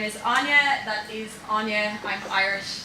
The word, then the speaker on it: Aine: As Adam mentioned, my name is Aine. That is Aine. I'm Irish, that's how we spell it.